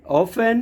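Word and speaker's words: often: बिल्कुल easy concept है जब भी टी के बाद न या टी के बाद सी एच आ जाए तो आप टी का उच्चारण नहीं करेंगे टी साइलेंट लेटर की फॉर्म में हो जाएगा जैसे यहां पे चार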